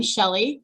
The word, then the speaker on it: Shelly: If you haven't met, and if you and I haven't met, I'm Shelly. I know it's spelled weird, right?